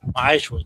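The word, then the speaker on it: מעשר: It's 10th in the Hebrew, and it's pronounced Ma'ashra, 10% of every penny of any increase the Most High gives you to the Treasury Department or teacher.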